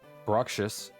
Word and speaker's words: Bruxish: Bruxish.